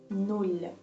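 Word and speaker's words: нуль: In Ukrainian, it pronounces like null. There are 4 letters, but just one syllable. At the end of this word we have the soft sign. Soft sign in Ukrainian has no sound, but instead of it has a direct effect on the previous consonant before.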